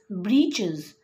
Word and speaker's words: breeches: witch's now you got it actually the proper pronunciation is breaches but just to make a fun and make